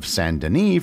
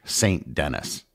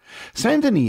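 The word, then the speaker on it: Saint-Denis: and for the record I will be using the French pronunciation of sandini for the rest of the episode not the English St Dennis sandan is a community located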